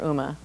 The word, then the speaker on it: UMA: Uma in a nutshell we do pronounce it Uma like the actress or like the goddess um it's a draft